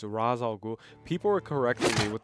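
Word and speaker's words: Ra's al Ghul: I'm a cane guy you think it's Raja it's Ra's algo people were correcting me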